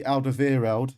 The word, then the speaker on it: Alderweireld: his former employer spurs could welcome back toby alderweireld that's how you pronounce it and serge aurier uh mr mustachio